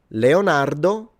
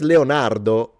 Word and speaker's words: Leonardo: We have got Michelangelo, Donatello, Leonardo, Raphael.